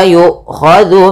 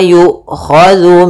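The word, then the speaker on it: يؤخذ: Kemudian wala yu'khadhu minha, la ada mat tabi'i, fathah bertemu alif. Yu'khadhu, hamzahnya diputus karena dia sifat hamas dan sifat jaharnya, bukan diputus tapi dia ditahan suaranya dan ditahan nafasnya. Wala yu'khadhu minha, dzu hati-hati jangan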